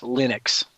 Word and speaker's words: Linux: going around that says my name is Linus tals and I pronounce Linux Linux that's what he says